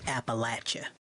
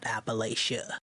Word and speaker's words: Appalachia: to be rude but it's pronounced Appalachia not Appalachia all right so now